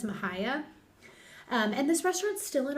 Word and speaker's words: Mexia: And it's in a town, okay, I had to put the pronunciation, Mahia or Mahia, but it looks like Mexia with the way it's written.